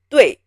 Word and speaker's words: 对: You just say it as 对, not 对. You know, it's if you say it like 对, people know you speak English as mother tongue. It is 对, fast and crisp, 对.